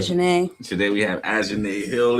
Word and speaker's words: Azhine: I usually pronounce it wrong on purpose. But Azhine.